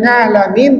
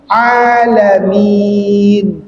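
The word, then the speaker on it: العالمين: Jadi tidak perlu kita nga tapi cukup a ya. Pondasi sudah betul pas mengucapkan nga ya di situlah cara pengucapan a bukan ngalamin. Bukan ngalamin tapi alamin ya. Ya, harus hati-hati jangan pakai nga.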